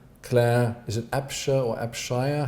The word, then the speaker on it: Abshire: to hire i'm sorry my scottish husband is always incensed at the way that Americans put the emphasis on the wrong syllable in Scottish names Chicago is full of everything is called mantras or makan stantly hits like it should be Montrose so I suppose her name would be AB shires and they like that